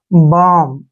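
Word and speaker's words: balm: बी ए एल एम बालम नहीं पढ़ना है यहां पर जब भी एम से पहले एल आता है तो एल वहां पर साइलेंट हो जाता है इसको हम क्या पढ़ेंगे बाम ऐसे बाम ठीक है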